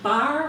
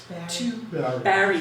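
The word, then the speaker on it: Barre: And he moved to Bar, Vermont, and that is a picture of a Bar, Vermont quarry. Barry. Thank you. Barry, now I know how to say it correctly, Barry, Vermont, to labor organize.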